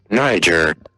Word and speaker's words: Niger: It's Niger, isn't it? Yes. Niger. Yep, that's how you spell it. That's the correct way of pronouncing Niger.